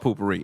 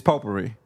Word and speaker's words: potpourri: you can't call it poopery. It's very appropriate, but I've never heard somebody say poopery before. I don't Yeah, even that's- know if I'm saying it right. It's potpourri.